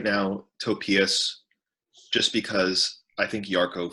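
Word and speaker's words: Topias: one more time it's it's t-o-p-i-a-s it's like a Tobias but with a p okay um and since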